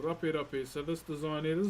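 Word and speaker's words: Rape: How this design is spelled in my native language is R A P E. R A P E. So don't get it twisted with the English language.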